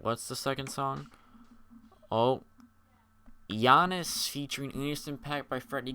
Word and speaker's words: Giannis: the title right, because it looks like you would pronounce it Giannis, but in the song, Freddie Gibbs goes, "Real G's moving sounds like Giannis," and I'm pretty sure.